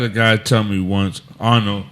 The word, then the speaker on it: Arnoux: I had a guy tell me once, Arno, and Arno is spelled Arnoux, last name.